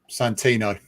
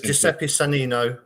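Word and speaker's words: Giuseppe Sannino: so that's Santino. It's bad pronunciation, but it's it's Giuseppe Sanino.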